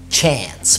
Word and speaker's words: chance: كمان الاي لما بيبقى جاي بعدها nc بتتنطق برضو زي dance، يروس، زي chance.